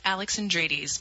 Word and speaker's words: Alexandridis: it you did you go ahead and you pronounce it for me uh my name is Alexis Alex Andres most people just call me Dr Alexis because